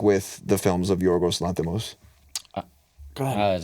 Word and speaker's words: Yorgos Lanthimos: Did he pronounce his name on Go ahead and try it real quick. Yorgos Lanthimos? Yorgos Lanthimos.